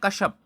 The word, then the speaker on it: कश्यप: film निर्देशक बनता है तो कशप कुमाऊंनी हिंदी में इसका उच्चारण होता है कश्यप कश्यप ने क्या पता